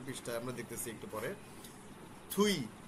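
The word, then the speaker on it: 뒤: থুই, দুই বানানো হচ্ছে দুই, কিন্তু উচ্চারণ হচ্ছে থুই, থুইয়ে বা থুই, থুই হচ্ছে পিছনে, আপ মানে সামনে, থুই মানে পিছনে, আমরা দেখব।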